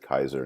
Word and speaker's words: Caesar: of the tongue and when you say caesar you say well they actually pronounced it kaiser in the early days well i know that